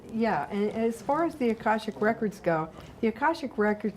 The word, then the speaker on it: Akashic: The Oh, Akashic Akashic.